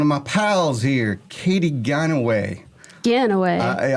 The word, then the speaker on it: Ganaway: station with one of my pals here, Katy Ganaway. Ganaway. It's like every Christmas song where it says Gone Away. I'm like, no, it's Ganaway.